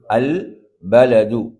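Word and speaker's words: البلد: உதாரணம் அல் பலது எப்படி அல் பலது இப்ப லாம் அங்கு என்ன செய்யப்படுகிறது உச்சரிக்கப்படுகிறது அதேபோன்று ஜீமுக்குரிய உதாரணம் அல்ஜபலு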